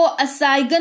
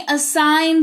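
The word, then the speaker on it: assign: इसको असाइगन नहीं असाइन पढ़ते हैं।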